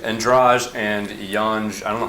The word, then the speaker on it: Yan: It sounds like yummy. It sounds Yummy. like what? Sounds like what? Yummy. Yeah. So I was watching Yan, bro, and I watched the Esparza fight.